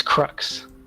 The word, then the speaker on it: Crux: well what's the correct way of sort of pronouncing it oh it's crux good so I'm not making myself look like